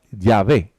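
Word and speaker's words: Yahweh: escúchenme en ese término conjeturan que originalmente se pronunciaba ya ve eso es lo que se cree ya ve aunque en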